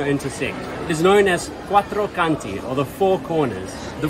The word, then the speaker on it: Quattro Canti: Quattro Conti or quattro? Quattro Conti. Quattro Canti. Quattro Canti. Piazza Villena. Si dice si pronuncia Villena.